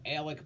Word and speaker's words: Alex: So Alec Murdaugh, and he likes to be called Alec, but it's spelled Alex.